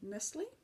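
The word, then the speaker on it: Knisley: It was An Age of License by Lucy Nestle. At least I assume the K is silent.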